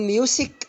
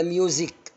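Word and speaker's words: music: كلمه موسيقى كلكم بتقولوها، بقول ميوسك ولا ميوزك؟ مظبوط، يبقى ميوزك.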